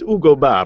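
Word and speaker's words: Hugo: or ug it's like come on but it's Ugo yes he went to I'm sure we're saying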